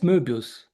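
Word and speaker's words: Möbius: the correct pronunciation of Mubius. Mubus. Uh was he German? Yes. Ah then it's Mubus.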